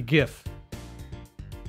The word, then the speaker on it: GIF: people no way man it is gift hard G gift graphics interchange format you